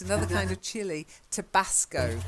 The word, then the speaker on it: Tabasco: Like tobacco, but with a sco at the end.